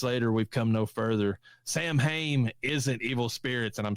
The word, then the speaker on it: Samhain: Samhain is like Arkansas. You should not. Why do we have to pronounce it like that? It's Samhain.